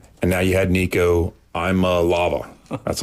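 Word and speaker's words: Iamaleava: And now you had Nico Lava. That's how you pronounce it.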